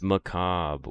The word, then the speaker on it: macabre: It's macabre.